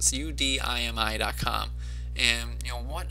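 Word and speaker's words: Udemy: now solo ads I use a site called UD me or you Demi and Mike White tryouts pronounced su di mi com and you know what I really like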